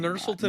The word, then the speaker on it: Nursulton: Nursulton Ruziboev is the right way to pronounce it, actually.